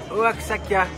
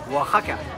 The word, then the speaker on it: Oaxaca: centre de la ville de oaksaka mais ceci se prononce Waka c'est le berceau de